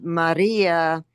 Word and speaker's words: Maria: Now, Maria, the second syllable, second from the end is long. Okay, that is a long I so that's where it gets accented.